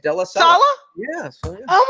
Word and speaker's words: Della Salla: Della Salla.